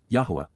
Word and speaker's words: Yahweh: advice please be aware and then W Yahweh Yahweh the proper pronunciation of the name of yoah God as